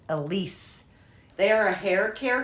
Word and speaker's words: Aliis: It's actually pronounced Elise.